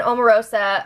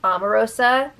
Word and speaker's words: Omarosa: Yesterday, Shannon and Omarosa, okay, before we get into this, I always thought it was pronounced Omarosa, but apparently it's Omarosa.